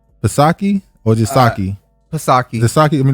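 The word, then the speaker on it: Psaki: you say this name pasaki or jasaki kasaki i mean the p would be silent wouldn't it i've never heard him say her name i think it's it's jan pasake all right fosaki handles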